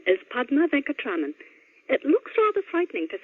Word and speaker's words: Padma Venkatraman: Hello, my name is Padma Venkatraman.